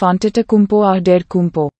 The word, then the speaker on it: Antetokounmpo: name is Nigerian so the t s in his name should be pronounced as d s this would make the pronunciation of antetokumpoa der kumpo